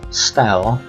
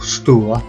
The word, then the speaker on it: Stour: Here we can take a look at the River Stour, or Stour, depending how you like to pronounce it.